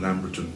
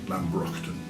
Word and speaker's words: Lambrockton: the local Lambrockton woods, using the old pronunciation there. Most people call them Lamberton, but I like the old name, Lambrockton.